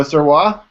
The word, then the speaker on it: Sirois: So Sirois, yes? Correct. Okay, and it's a tough day for me to pronounce things because your current employer is Misha.